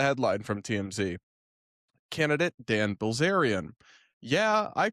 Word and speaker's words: Bilzerian: Bilzerian?